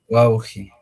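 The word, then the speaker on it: wawqi: Entonces, su pronunciación es así, ¿no? Wauji.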